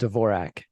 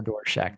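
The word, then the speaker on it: Dvorak: in a different format it's called dvorac okay or doorack depending on how you pronounce it but um so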